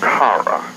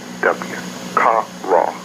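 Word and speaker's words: קרא: Now, the word to be called in Hebrew is kara, K-A-W-R-A-W, kara.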